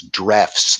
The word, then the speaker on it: Drews: years ago by Arthur Drews. It looks like in English pronunciation, I think it's Drefts, though.